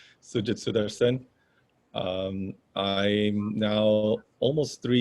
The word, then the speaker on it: Sujith Sutharsan: guess technically my pronunciation my name is sujit i've got used to all kinds of pronunciations but i'm trying to correct everyone as we go along so it's sujitsudarsen um i'm now almost